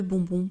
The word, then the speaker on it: bonbons: Et je voulais faire une petite remarque, on met le S à bonbon parce que l'on marque le pluriel, mais en français on ne prononce pas le S, hein. C'est très différent de l'anglais, je le dis ça